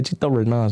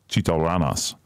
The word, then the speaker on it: Chito Rana$: How you say my name? You probably say Chito Rana, huh? Chito Ranas.